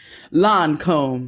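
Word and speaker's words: Lancôme: Lancome.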